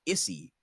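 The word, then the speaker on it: Isy: It's spelled I-S-Y, but I'm going to pronounce it Izzy, because it should be pronounced Issy, and fuck that.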